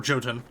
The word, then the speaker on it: Jotun: Well, we're gonna raid ourselves a Jotun camp. Or Jotun. I pronounce it Jotun, personally.